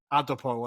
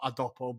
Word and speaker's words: Adopo: I adop but the the commentator was very careful to pronounce it adopo and not adopo but um adopo was